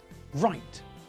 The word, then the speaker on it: right: w is silent and in the same way we don't pronounce the silent w in these words either rap right wrestle wrist now with the